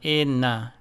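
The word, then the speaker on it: إِنَّ: This W sign tells you that the N must be called twice. First with the vowel before it, and then with its own vowel. So to spell and pronounce this word here, we say A-I-N, in, and inna, inna.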